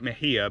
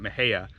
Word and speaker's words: Mexia: is a town called, I call it Mejia, but I think everybody else calls it Mejia. It looks like Mexia. Spelled Mexia, yeah. Yes, it's spelled Mexia.